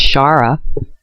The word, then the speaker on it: Sahara: And then, you know, like I said, it's Shara. That's why they kept changing the name of the Sahara Desert.